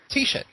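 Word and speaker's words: Teisha: Uh her first name is spelled How do you say? Tisha. Tisha Lions. T E I S H A Lions.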